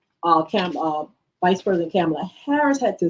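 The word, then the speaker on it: Kamala: handshake but she told him her name and pronounced it the way it's supposed to I'm camela Harris to know let's go let let me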